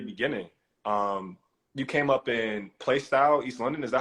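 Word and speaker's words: Plaistow: You came up in Playstyle, East London. Is that how you say it? What's no, it? it's How you say plaster. It's plaster. Like Newham.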